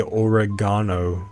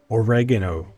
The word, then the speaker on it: oregano: British people, English people say oregano. So, if you want to pronounce it oregano, you're not wrong. But I'm not going to be the outlier. I'm going to say oregano like an American because in America,